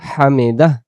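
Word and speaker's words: حمده: আমরা যদি হামিদা পড়ি তাহলে এই এতটুকু উচ্চারণ হইলো। এই হা অক্ষর একটা দেখা যাইতেছে। এটা তখন উচ্চারণ হয় না। এই হা অক্ষরকে হা অক্ষরকে যদি আমরা বলতে চাই তখন আমাদেরকে বলতে হবে হামি দাহ।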